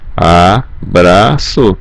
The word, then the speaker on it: abraço: Aqui o A, a letra A, o B, R, A fica Bra, C cedilha O, So. Abraço.